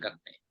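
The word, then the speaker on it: Gagné: Gagne, tulisnya Gagne. Bacanya Gagne. Cari buku itu.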